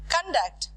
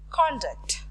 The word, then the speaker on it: conduct: But when you are pronouncing, based on the stress, if the stress is in the first syllable, you pronounce it as conduct.